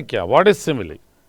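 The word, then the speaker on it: simile: तो सिमिली है, इसका वैसे करेक्ट प्रोनाउंसिएशन सिमिली है, सिमिली नहीं है, सिमिली। ओके, इसको ऐसे फोनेटिकली ट्रांसक्राइब करते हैं, अ है यहाँ, ये स्वा वाला वीक वाला सिमिली, ये इसका करेक्ट प्रोनाउंसिएशन है दोस्तों।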